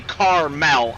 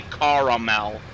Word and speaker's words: caramel: Or caramel, depending how you say it. I don't say caramel, I say caramel. I don't know why. I think people that make the A, from the Midwest that make the A silent are silly.